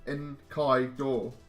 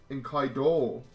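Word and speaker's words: Enkidu: be prepared because they how do you pronounce then in Kido and Kido I see as in Qaeda in Kai door in Kai door okay all your abilities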